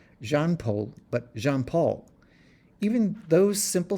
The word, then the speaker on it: Jean-Paul: Beanpole's real name, I learned, was not Jean-Paul, but Jean-Paul. Even those simple syllables took some mastering.